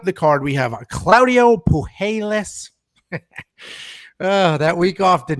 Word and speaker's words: Puelles: This one I'll give you is a tricky one, but I believe it is pronounced Puelles. So Puelles sounds much better than Puelles.